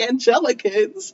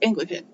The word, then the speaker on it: Anglican: I was like the Angelicans. And with that, right? We both mispronounced it the same way, because I didn't know how to say it. Yeah. But that when you look at it at first blush, you're like, oh, Angelican. Angelican, right? But it's Anglican.